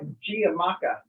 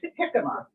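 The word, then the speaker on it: jicama: I did not know how to pronounce it because I had seen the word. It looks like Giamacca. Yeah. But it's Yakima.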